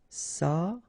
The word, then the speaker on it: s'approcher: S'approcher de, okay, C and H together, sh, and then ER at the end, et, chez. S'approcher.